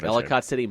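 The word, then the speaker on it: Ellicott City: that happened in uh town called elott City I think I'm pronouncing that correctly yep Elicott City Maryland uh where they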